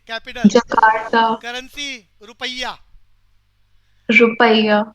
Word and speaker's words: Rupiah: Rupiah. वैसे इसको ना कई प्रोनाउंसिएशन करने वाले रुफिया भी बोलते हैं। रुफिया ही ना बोलना दोबारा, रुफिया। Rufia. हाँ रुफिया।